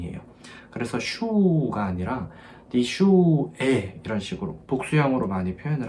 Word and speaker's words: Schuh: 여기 STH 하고 나서 우하 나오잖아요. 근데 여기에 맨 뒤에 있는 요 하 같은 경우는 소리가 나지 않아요. 묵음입니다. 대신에 왜냐면은 모음의 바로 뒤에다가 하가 이렇게 붙는 경우는 요 모음의 소리를 길게 내줘요. 그래서 슈 이런 게 아니라 슈 이렇게 해주시면 돼요.